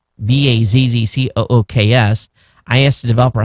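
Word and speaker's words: BazQux: It's pronounced Baz Cooks. B A Z C O O Ks.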